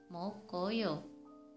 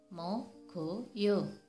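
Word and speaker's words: 먹어요: Harusnya dibaca mokoyo, tapi salah. Yang betul dibaca mogoyo.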